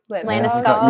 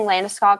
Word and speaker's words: Landeskog: Landeskog.